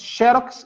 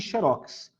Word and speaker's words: xerox: cateté xérox que acontece xerox é um estrangeirismo que foi recepcionado pela língua portuguesa então as duas palavras estão corretas xerox e xerox você pode usar qualquer qualquer uma das duas bom eu preciso encerrar